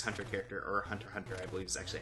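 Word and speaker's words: Hunter × Hunter: x Hunter character or Hunter Hunter I believe is actually how it's pronounced on the x is silent um uh but I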